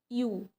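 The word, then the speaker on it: ewe: यू यू ये कैसा sound कर रहा है? ई डबल ई है। ठीक है? इसको यू बोला जाता है।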